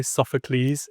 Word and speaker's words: Sophocles: But the second guy, Sophocles, is the correct pronunciation.